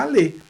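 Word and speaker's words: allez: Olha só, A pronúncia do aller conjugado na segunda pessoa do plural, que vai terminar com EZ, tem exatamente a mesma pronúncia do verbo no infinitivo, porque o verbo no infinitivo também termina com ER. Então fica aller.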